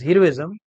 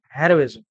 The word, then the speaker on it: heroism: This word is generally mispronounced as heroism. Hero will change into heroism.